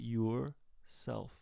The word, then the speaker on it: yourself: Notice that yourself is 2 syllables. And the beginning of the second syllable, self, is an S, and it's not a Z.